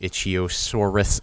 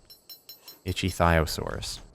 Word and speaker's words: Ichthyosaurus: Itch Ichiosaurus saddle. I'm probably saying it wrong, but I think it's theosaurus. Ichyiosaurus.